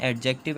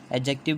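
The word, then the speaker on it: adjective: एडजेक्टिव बोलते हैं इसको। डी जो होता है वो साइलेंट होता है।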